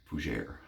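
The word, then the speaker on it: fougère: Fougere. That's why I put emphasis on that. I learned how to say it.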